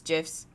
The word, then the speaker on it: GIF: of you are like i don't like how you pronounce that word i don't care this pronounce it however you will for me it's jiff's end of story so gifs generally have